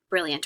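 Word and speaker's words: brillant: take a look at brilliant or smart so we have notice that t isn't pronounced the n makes the a nasal but no okay but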